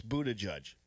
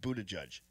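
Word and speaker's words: Buttigieg: I'm just saying okay it's Buddha judge that's good that's good that's a good way to put that pronounced Buddha judge Pete Buddha judge all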